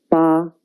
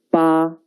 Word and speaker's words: 八: The pronunciation is 八. 跟我读八.